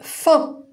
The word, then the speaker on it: fin: Si je mets IN devant une consonne, F par exemple, je vais lire fin.